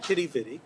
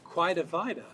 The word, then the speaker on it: Quidi Vidi: but you've got to write the second time kitty bitty but there are two major pronunciations here okay and one is quite a vida and the other is kitty bitty now most